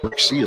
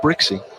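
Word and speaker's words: Brzykcy: the outside corner from brickie a slow moving curveball brickie spells his name BR zy kcy thank goodness for the pronunciation guy that pitch is low and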